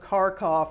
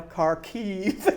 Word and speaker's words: Kharkiv: So, if you teach World War II, what was the multiple battles of Kharkov? It's now Kharkiv and things.